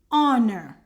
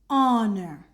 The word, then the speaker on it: honor: So here we're going to put the article an honor. This is silent. An honor and air.